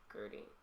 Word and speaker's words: Gerty: Gerty. Because I'm trying to put a TH in there and there wasn't.